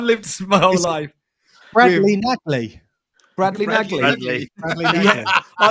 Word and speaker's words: Nagley: I just like saying it like that, but is it Brad Nagal? It's not Nagal. Brad Nagley. Like that. Oh my god, fucking! No, Brad, I've lived my whole life. Bradley Nagley.